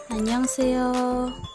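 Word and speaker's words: 안녕하세요: when korean people say annyeonghaseyo or anyone they do not always pronounce every single letter clearly they do not pronounce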